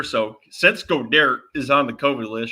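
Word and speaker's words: Goedert: he's got her but he's called go derek because we've been mispronouncing that name for over a year so since godare is on the kobe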